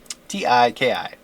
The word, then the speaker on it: Tiki: T-I-K-I. Tiki. I think is how you pronounce her name.